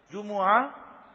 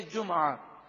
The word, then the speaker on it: جمعہ: جمعہ میم پر پیش اور میم ساکن بھی ہے جمعہ، دونوں تلفظ درست ہیں.